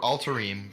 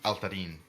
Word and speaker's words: Altarim: it's Altarim versus Altarin.